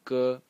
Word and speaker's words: 戈: The first one is this one and is pronounced G in the first tone and is some sort of a weapon.